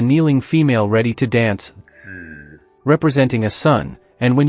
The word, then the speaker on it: 子: Hao is a fusion of 2 characters, nu, representing female, and zi, symbolizing son.